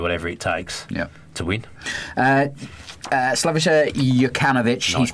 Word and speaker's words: Slaviša: Slaviša Jokanovic. Nice pronunciation.